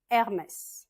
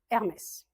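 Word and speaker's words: Hermès: Hermes, on prononce pas le H en français, juste Hermes.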